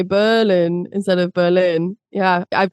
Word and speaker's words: Berlin: it be hotel and Berlin?